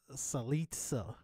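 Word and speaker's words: Cillizza: This CNN article, which is an opinion piece, really, by Chris Salitza. Rhymes with pizza.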